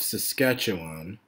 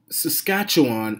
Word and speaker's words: Saskatchewan: So here we have the new Democratic Party of Saskatchewan, and they don't even bother to spell check the name of their own province. Now, Saskatchewan is spelled Saskatchewan. Sass, cat, chew, on.